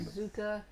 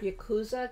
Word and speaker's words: Yakuza: Yazooka. What is it? That's not how you pronounce that word. Yakuza game?